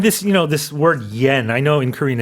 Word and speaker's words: yen: You can pronounce year and yen uh with a English Y sound.